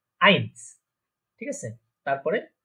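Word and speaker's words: eins: তাহলে এ এবং ই বা ই অথবা আই, এই দুইটা যদি একসাথে থাকে তাহলে আমরা জানি আই। আই এরকম উচ্চারণ হবে বা এরকম প্রোনাউন্সিয়েশন হবে, প্রোনাউন্সিয়েশন দেখেছিলাম। তো তাহলে এটা কি উচ্চারণ হচ্ছে, প্রোনাউন্সিয়েশনটা কি হচ্ছে, আইনস।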